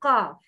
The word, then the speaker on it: قاف: Please notice the shape of the mouth when you pronounce the heavy letter with its vowels. Letter قاف, when you pronounce the letter قاف, ق قاف فتحة قا قا. Can you notice the elevation of the tongue towards the roof of the mouth?